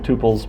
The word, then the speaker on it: tuple: Some people call them tuples instead of tuples, but either pronunciation is considered acceptable.